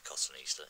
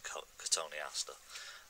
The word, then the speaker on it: cotoneaster: corrected me and said, "Oh no, it's not a cotton Easter, it's a cotoneaster." I've heard other people call it cotton Easter. I've checked it online, and it is supposedly pronounced cotoneaster, but it'll always be